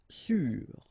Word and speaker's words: sûr: Sûr. Sûr. Okay, even if you get this accent circonflexe, you don't pronounce it, so you get the same pronunciation, sûr and sûr.